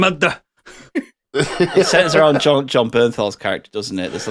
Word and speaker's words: Bernthal: Bernthal, yeah.